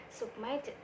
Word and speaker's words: submitted: Nah, untuk cara pengucapannya itu ed-nya dibaca menjadi id, sehingga menjadi submitted.